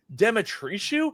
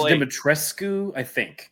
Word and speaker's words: Dimitrescu: We got Kaylin here saying Lady Demetriou. I can never pronounce it properly. She's from. I want to say it's Dimitrescu.